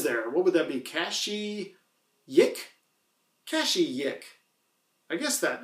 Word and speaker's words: Kashyyyk: Kashi Yik?